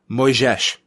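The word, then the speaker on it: Moisés: fighting a Thiago uh moyzisch I believe is how you pronounce it yeah I mean you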